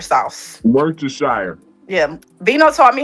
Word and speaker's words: Worcestershire: Worcestershire sauce. Worcestershire.